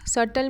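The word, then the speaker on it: subtle: है फाइन या नाजुक सटल में जो है वो बी साइलेंट है स्टनिंग्ली का मतलब है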